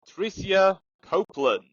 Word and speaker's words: Tricia Copeland: Introducing, from Colorado, United States of America, Tricia Copeland. Hello. Did I pronounce that correctly? Yes, you absolutely did.